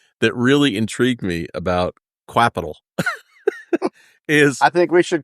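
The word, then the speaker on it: Qapital: had to figure out it's actually pronounced Capital but we can call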